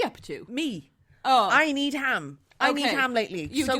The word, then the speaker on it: Needham: to Joseph neom but need ham it's just it's just need ham that's how it's spelled is it just need